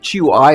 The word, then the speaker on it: Hui: It is I'd just like to point out by the way hui is always pronounced we h u a is w it's not there's no h.